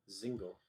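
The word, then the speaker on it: Dzingel: Ryan Zingle? Is that how you say it? I like his play style too. Yes. The Zingle? Do you add the D with him? No, it's silent. Zingle.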